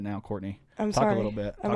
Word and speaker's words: Cortni: courtney c-o-r-t-n-i right yeah there's only so many ways to pronounce that though i get i get i get cortini a lot how interesting yeah i think i look italian why not but you're not